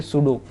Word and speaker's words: pseudo: क्या बोलते हैं सूडो, PSEUDO, ये स्पेलिंग आप ध्यान में रखो, सिलोमेट, सिलोमेट, सूडोसिलोमेट।